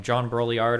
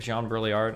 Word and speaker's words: Baudrillard: It's pronounced Baudrillard.